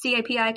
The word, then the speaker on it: CAPI: So there is something called, nobody even knows how to pronounce it, CAPI. It's CAPI, Conversion API, that is in place now that Google is telling people to implement.